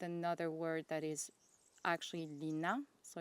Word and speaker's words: Line: by Sandnes Garn, and she said Lina, Lina, Lina, something like that. She said that I should not confuse this with another word that is actually Lina.